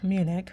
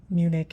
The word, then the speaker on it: Munich: Okay, so this is Munich or München, um, based on, I guess München is the German pronunciation, but Munich is pretty much how we pronounce it in the US or whatever.